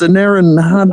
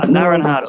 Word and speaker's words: anaranjado: Yes, Anaranjado. Anaranjado. Yes, It means orange exactly. in Spanish, but with a J, we spell it with an H.